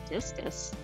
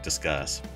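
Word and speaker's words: Disqus: a while and so it says go to discus yeah we might be pronouncing it wrong it's disuss oh cuz it's dis Mak sense um yeah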